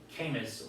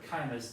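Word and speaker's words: Caymus: And this is from Chuck Wagner, and if you don't know Charles Wagner, that would be Camus or Chimus, depending on how you want to pronounce it. I've heard it both ways, but yeah.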